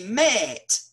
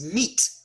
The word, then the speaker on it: meat: and eventually became mate look at that double e it should be pronounced if you think about it if if the e in met is air then that should be met it's not it's meat because the air sound moved up one to e and you